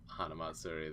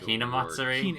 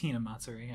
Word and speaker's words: Hinamatsuri: Isn't it Hinamatsuri? It's Hinamatsuri. I think I might have said it wrong. I think you both said it wrong. Yeah. What did I say? You said Hanamatsuri or Hanamitsuri or something.